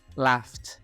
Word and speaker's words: laughed: Karena di sini tulisannya bentuk kedua, yang mana ditambah tulisan ed di sana. Jadi kita bacanya laughed gitu. Jadi ada cah ya. Jadi ed-nya itu dibaca huruf T gitu.